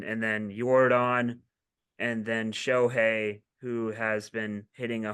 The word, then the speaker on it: Shohei: And then Jordan, and then Shohei, who has been hitting a homer every single game. It's pronounced Shoei.